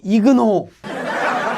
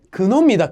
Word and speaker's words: 근호: 이 기호의 이름은 근호라고, 이근호라고 하면 안 되고 근호입니다.